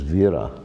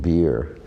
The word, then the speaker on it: Vira: But actually the name, it's a Bengali pronunciation and spelling of the word in Sanskrit vira, which means heroic or a lot of potency, like that vira.